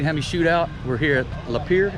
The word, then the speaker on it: Lapeer: We're here at Lapeer. Is that how you say it? That's right, Lapeer. Lapeer, Michigan.